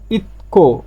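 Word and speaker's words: 있고: থ্যাগোগা, থ্যাগোগা ইতকো মানে আছে, ইত মানে আছে। আর এই যে তধ্বনির পরে গিয়ক আসলে গিয়কটা ক উচ্চারণ হবে, এর জন্য এর উচ্চারণটা হবে কি ইতকো, এর উচ্চারণটা হবে ইতকো।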